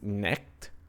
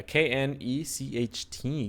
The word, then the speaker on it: Knecht: we chose Dalton Knecht, if I'm pronouncing that right, or Knecht. It could just be like a weird CHT. But yeah, Knecht, Knecht, Dalton Knecht. There you go, Knecht. That would probably be the better way of saying it.